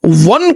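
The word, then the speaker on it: one: है वन eyed man, क्योंकि वन को प्रोनाउंस करते वक्त आपको डब्ल्यू की आवाज निकलती है, कंसोनेंट की आवाज निकलती है।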